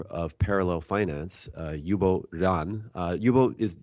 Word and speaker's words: Ruan: parallel Finance uh yubo Ron uh yubo is am I pronouncing your last name correctly uh yeah sure it's Ron but Ron okay yubo run uh yubo has a